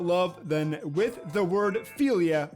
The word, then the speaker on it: philia: than with the word philia or as the greeks pronounce it philia philia philia philia philia